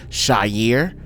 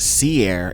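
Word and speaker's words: Seir: Okay, in the Aubari and you see right here in Hebrew it would be pronounced Shyier. Um, obviously they call it seair in the English, but we can see that it means shaggy hairy goat.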